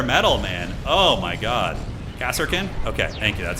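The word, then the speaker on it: Kasrkin: Cassarkin.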